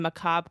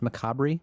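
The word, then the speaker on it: macabre: teeth beared in a macob grimace. I believe it's pronounced macabri.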